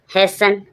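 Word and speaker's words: hasten: often often means पराया हैसन हैसन means शीघ्र अपन क्या बोल दिया टी आई ओ एन है टी इ एन है सन बोलेंगे इसको सन ही बोल देते हैं जब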